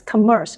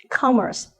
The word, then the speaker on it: commerce: purchase three syllable stress this word is commonly mispronounced as Commerce with the stress on the second syllable but the stress actually falls on the first syllable Commerce Commerce I study in the